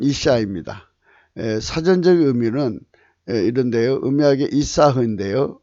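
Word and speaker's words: אשה: 또한 악한 계집의 계집은 이시시사흐입니다. 이시시아흐인데요. 발음은 이샤입니다.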